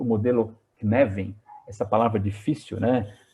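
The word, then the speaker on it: Cynefin: Knevin, escreve-se Synefin, depois, lá no primeiro slide que eu compartilhei com vocês, está escrito como se escreve em inglês e como se fala em gaélico, que é a língua dessa palavra, me explica o seguinte: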